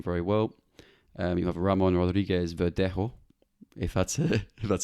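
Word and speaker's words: Ramón Rodríguez Verdejo: everyone know him very well um you have ramon rodriguez verdejo that's how you pronounce it at sevilla who's a former goalkeeper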